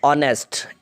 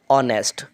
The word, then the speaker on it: honest: علاوہ دوسرا ورڈ ہے آنیسٹ، HONEST، آنیسٹ، with the vowel sound as the initial consonants H is not pronounced۔ یہ بات جو ہے